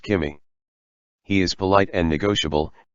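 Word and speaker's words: 君: When he says you, he uses the kanji for egg yolk, as both are pronounced kimi.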